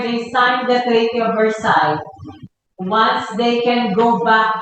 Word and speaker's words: Versailles: There's actually variations in the pronunciation. The French would pronounce it as Versailles. Some would also pronounce it as, the Americans would pronounce it as Versailles.